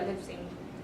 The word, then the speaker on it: Leipzig: Leipzig? Yeah, Leipzig.